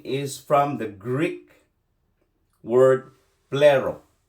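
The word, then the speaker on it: πληρόω: The word fulfill in verse 17 is from the Greek word plero. Plero. I spell it to you.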